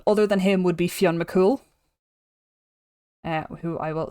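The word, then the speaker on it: Fionn mac Cumhaill: So Fion M cool or um as it's been anglicized Finn Finn Mcool which I hate I hate it so much.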